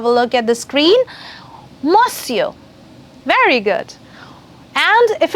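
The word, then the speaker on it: monsieur: good morning mister then you would say bonjour mosio yes mosio for the spellings you can have a look at the screen mosio very good and if it's a girl and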